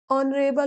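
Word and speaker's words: honourable: लेकिन यहां पर ऑनेस्ट ऑनरेबल होता है। ऑनरेबल नहीं होता। आगे से आप सही प्रोनाउंस कीजिएगा। ऑनरेबल honest our. ठीक? यह आपको याद रखना है। यहां एच का उच्चारण नहीं होता इसलिए एन का प्रयोग किया जाता है।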